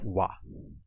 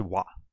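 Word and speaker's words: は: is the character ha however when it's used as a particle it's pronounced wah so you just have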